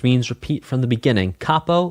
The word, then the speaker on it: capo: Capo like cap head.